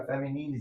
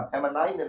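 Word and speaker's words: feminine: फेमिनिन gender क्या है फेमिनिन याद रखिएगा फेमिनाइन नहीं होता है बहुत सारा बच्चा इसको गलती करता है बट आपको गलती नहीं करना है फेमिनाइन जेंडर नहीं होता है फेमिनिन जेंडर होता ठीक है?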